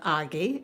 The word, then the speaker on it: Agi: and actually I gay AGI is a very popular Hungarian name and it's pronounced Aggie of course it's Aggie